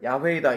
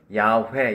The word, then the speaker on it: 야훼: 자, 이것을 우리는 이해할 수 없지만 빨리 발음하면 야훼 이렇게 발음한다고 알려져 있는 것이에요.